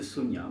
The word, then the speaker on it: Sonja: et prononcé raid de Sonia.